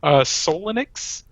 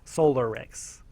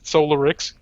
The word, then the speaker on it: Solarix: Oh, is it supposed to be pronounced a different way? Solarix. You said Oh. Solinix. Oh, excuse me. I'm leaning far away. It looked like an N. Solarix.